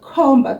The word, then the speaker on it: Khomba: And so that's why my friend is called khomba, because he is a pointer. So let's get that name correctly. Khomba. The first syllable is and the second syllable is mba, mba, mba. So, khomba.